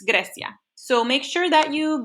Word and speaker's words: Grecia: Right now, we are just going to talk about Grecia, Mykonos Island, Mykonos Island, Greece, okay? Now, this is Spanish class, and the way you say Greece in Spanish is not Greece, it's Grecia.